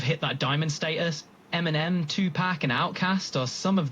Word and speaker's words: Tupac: You a big Tupac fan? It's pronounced Tupac, like chicken pox, like it's Pac, Tupac, not Pac.